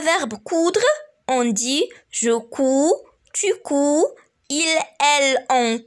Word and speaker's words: couds: les personnes de conjugaison, mais pour les trois personnes du singulier, le D ne se prononce pas. Par contre, pour les trois personnes du pluriel, le D se prononce.